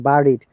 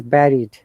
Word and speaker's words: buried: I have heard many people saying buried, but it is buried rather than buried.